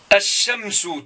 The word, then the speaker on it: الشمس: Et quand je marque الشمس, regardez bien, الشمس, الشمس, là de l'alif, je suis allez directement le shin. Ash-shamsu tajawaztu lam, c'est-à-dire lam la tuntaq. Ça, je ne prononce pas le L.